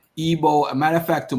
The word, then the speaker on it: Igbo: way to we're saying Igbo it's actually ebo we're actually mispronouncing the word it's actually okay the G is actually silent no I'm not I'm